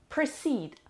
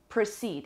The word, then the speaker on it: proceed: through the sixth word proceed proceed it has two syllables and the stress is on the second syllable but the PATA kokkonen